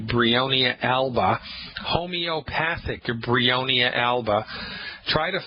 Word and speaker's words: Bryonia alba: The name of the homeopathic medicine is Bryonia alba. You spell that B like baby, R like Roger, Y like yellow, O, N like Nancy, I, A like apple. Bryonia.